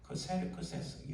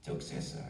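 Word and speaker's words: Xerxes: 페르시 왕 이름이 아수 곧 크세르크세스 영식 발음으로는 적세 이렇게 표현 자이 2차 2차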